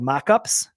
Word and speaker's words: Moqups: A great software program is called Mockups, but it's spelled, as you can see, Moqups.